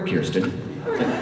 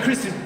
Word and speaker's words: Kirsten: I like to stand right there and go, or Kirsten. Anyway, Kristen.